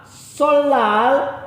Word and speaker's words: 설날: Solal. Kak, ini kan ada nian di sini. Ya, barang yang belum belajar belajar ya. Jadi solnal ini dibaca menjadi solal.